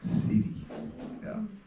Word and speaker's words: Шри: Мантра была: “Шри Рам Джай Рам Джай Джай Рам” Мне понравилось “Шри”, потому что это очень по-бенаресски, . Не “Шри”, а “Сири”.